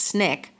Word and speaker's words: SNCC: And by 1961, activists with the Student Nonviolent Coordinating Committee, or SNCC, pronounced Snick, were at work in Mississippi to promote voter registration.